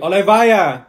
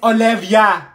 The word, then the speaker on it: Olivia: here it's Ava it's three letters Ava sorry Oliva what did she say Oliva it's Olivia why is your name Olivia here if your